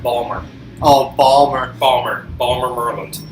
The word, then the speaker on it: Baltimore: you're not pronouncing right Balmer oh Balmer Balmer Balmer merland I've heard that before you know you got to say Balmer yeah and uh you're